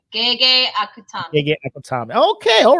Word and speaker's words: Gege Akutami: Gege Akutami.